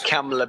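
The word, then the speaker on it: Kamla: your first name that supposed fortunately it's pronounced like camela better camela in many ways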